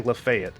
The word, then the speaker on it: Lafayette: And just a heads up, if I ever say Lefayet, it's because there's a town near my hometown named Lefayet. And it's spelled the exact same way.